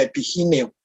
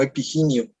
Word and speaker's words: epigineo: ser epiginio, sino epigineo, porque viene del griego giné, que quiere decir femenino, se refiere a la estructura femenina, y se utiliza como en ginecólogo, se debería de castellanizar como en ginecólogo, así que pronunciamos giné, entonces sería epigineo, no epiginio.